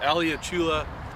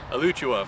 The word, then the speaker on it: Alachua: to the World Series in, how do you pronounce it? Alachua, Florida. Alachua, Florida.